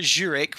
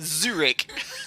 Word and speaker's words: Zurich: It's not Zurich with J, as Mariana keeps saying. Embarrassing. Zurich.